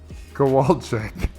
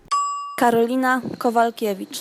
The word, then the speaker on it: Karolina Kowalkiewicz: Carolina Kowalczyk. Kowalczyk. Do you see a Chuck in there anywhere? Karolina Kowalkiewicz.